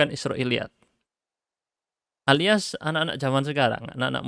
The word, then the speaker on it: Israiliyyat: *Israiliyat*. Begitulah cara membacanya ; Saya sudah menuliskannya.